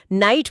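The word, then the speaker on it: knight: अंग्रेजी की तरह नहीं, जहां के एनआई, जीएसटी को नाइट पढ़ते हैं और के चुपचाप बैठा रहता है।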